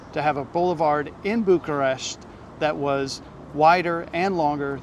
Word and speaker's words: Bucharest: as we were corrected and told the correct pronunciation is Bucharest Bucharest is the capital of Romania and home